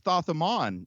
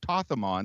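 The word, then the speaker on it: Thoth-Amon: That's Thothamon, or Tothamon, depending on how you pronounce it.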